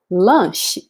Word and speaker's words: lanche: In Portuguese, the sound here is sh, sh. So similar, right? Let me show you here. So lunch in English, lanche in Portuguese.